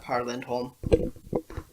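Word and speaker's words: Pär Lindholm: been really impressed with Par Lindholm, which is actually pronounced pear, but I'm not going to get to that because I like it Par.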